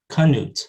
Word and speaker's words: Knut: they might say knuds kanuts they'll add the schwa before that nasal to break up that cluster of a stop plus a nasal because they don't allow